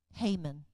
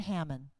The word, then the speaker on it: Haman: Haman. Not Hamon.